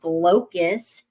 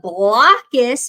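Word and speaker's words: Blokus: it was pronounced a different way than it's pronounced I thought it was called blus but blockus makes a lot more sense since their little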